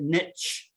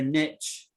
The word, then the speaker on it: niche: Some people pronounce it niche. Yeah, my particular niche. Now, I don't like saying it like that, right? Because it is a French word and the French say niche.